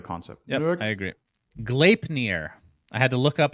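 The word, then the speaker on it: Gleipnir: it works i agree glaipner i had to look up how to pronounce that by the way requires i'm sure there's a norse mythology or something okay oh the american way is glapny requires a match i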